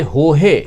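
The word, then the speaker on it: Jorge: द आरोप है की टीम जॉर्ज जिसे हो है प्रोनाउंस किया जाता है टीम हो है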